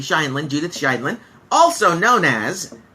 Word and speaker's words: Scheindlin: Judith Sheldon. Judith Scheindlin. Let me say her name correctly. Scheindlin.